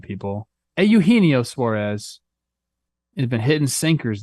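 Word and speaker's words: Eugenio Suárez: also talked Eugenio Suarez I put the X on the wrong syllable there that's my bad people a Eugenio Suarez it had been hidden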